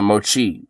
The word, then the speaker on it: mochi: Moki and just period and he's in the moky donuts oh my God holy